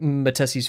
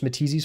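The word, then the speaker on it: Matisse: And I don't really like I read Matess's Force, Matis's Force, I believe. I believe that's how you pronounce his last name. I watched an interview and they said Matis.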